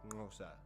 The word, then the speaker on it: Xhosa: Hence Xhosa is usually pronounced something like Ngosa.